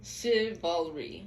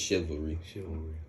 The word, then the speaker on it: chivalry: think i'm pronouncing that wrong how do you pronounce it marcus chivalry chivalry chevrolet shivalri chivalry it's chivalry yes so basically i seen the post that